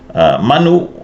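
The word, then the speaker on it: mānu: But the more correct pronunciation of this word in the context of the alagaupu is manu with the long a.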